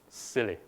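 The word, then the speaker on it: SIYLI: inside yourself Leadership Institute and is pronounced as silly so where in doubt get silly silly.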